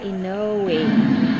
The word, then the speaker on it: Inoue: Ah, Inoue. That's how to pronounce it.